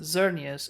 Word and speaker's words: Xerneas: Although the other one is pronounced Xerneas as a Z, so maybe I'm wrong.